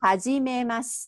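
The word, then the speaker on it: はじめまして: So, ha. Mm-hmm. G. G, right. Mm-hmm. Ma. Mm-hmm. Shi. Te. You got it.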